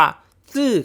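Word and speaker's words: 死: บอก ว่า เฮ้ย แอด ตาย มัน ออก เสียง ว่า ซี่ นะ แบบ คน เฒ่า คน แก่ คน จีน ชอบ พูด อ่ะ ซี่ แล้ว ซี แล้ว ก็ ต้อง บอก ว่า ออก เสียง แบบ นี้ ก็ ถูก ครับ เพราะ การ ออก เสียง ซี้ นี้ เป็น การ ออก เสียง แบบ จีน แต้ จิ๋ว คือ คน จีน บ้าน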